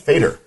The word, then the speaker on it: Fator: Well, out at the Maryland Theater on 21 South Potomac Street, Terry Fator, I think is how it's pronounced. Fator. Yep. Fator.